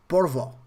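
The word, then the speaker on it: Porvoo: then i went to porvoi i think that's that was the name of the place porvo if i'm not mistaken i think that's uh that's the correct way to pronounce it it was amazing it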